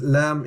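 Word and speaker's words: لام: Right, the next one is Lam, exactly the same as English. Lam, Lam, Lam. Just memorize how to say the letter. So it's not L, it's Lam.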